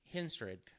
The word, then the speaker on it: Henstridge: is I was at a convention and Nastasha Henstridge, I guess is how you say her last name, Henstridge. From Species, Natasha Yes, Henstridge.